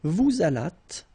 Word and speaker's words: vous allâtes: Vous allâtes, same thing, la liaison. So final S here and final S here is not pronounced.